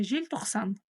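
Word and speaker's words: желтоқсан: Да а жель токсан жель токсан жель жель жель читаем мягко е значит Е правило казахского языка как пишется так и читается ни одна буква в казахском языке не искажается Вот такие дела жель буква л читается через мягкий знак Потому что перед ней стоит буква е а она всё смягчает Вот такие дела жель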